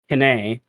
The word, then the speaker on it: Kine: Kine is how you say that.